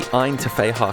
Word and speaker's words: Ggantija: But I made a point of asking the cab driver about the pronunciation of this, and while I can confirm the G is silent, the rest, you're on your own.